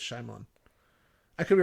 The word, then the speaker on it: Shyamalan: I see I see and the Y is silent so shamalan so anyways there you